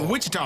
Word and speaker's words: Wichita: I mean, you got to shock your opponent when you like the Shocker, Wichita Shockers. You got to shock those guys. Oh, it's pronounced with cheetah.